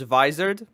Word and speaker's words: Vizard: to him and G this guy's pronouncing it wrong so it's visard and he has a